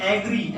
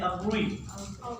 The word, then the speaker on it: agree: वैसे आम जुबान में इसको कहते हैं एग्री। एग्री का लफ्ज गलत है, इसको पढ़ा जाता है अग्री।